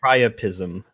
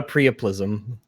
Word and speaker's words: priapism: I've heard of that a priapism oh not not a prism Rags knows his erection